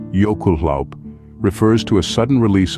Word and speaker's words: jökulhlaup: This Icelandic term, pronounced jökulhlaup, refers to a sudden release of water when a volcano's fiery heat melts a substantial amount of glacial ice.